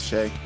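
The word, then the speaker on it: Seumidh: Don $8 I just Googled that name that's Shay how much did it take out when I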